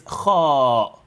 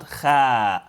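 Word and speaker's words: خ: Here, listen to what I say, akho'a, because the letter is kho, not kha.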